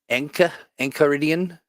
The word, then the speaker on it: Enchiridion: Hard C sound. Okay. Enchiridion.